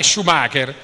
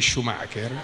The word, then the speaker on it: Schumacher: No, si dice Schumacher, raga, no, non è Schumacher. Schumacher si pronuncia.